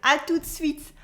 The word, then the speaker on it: à tout de suite: Au revoir is fine for most situations, but if you want, you can learn better ones, like à tout de suite, À tout de suite, where the T is silent.